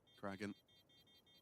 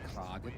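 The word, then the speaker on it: kraghen: An attempt though from Kragan. Some couple of good shots. But it's Warrow. Do believe you'll find it's pronounced Kragan. Kragan. Made that sound Swedish, didn't I? You did.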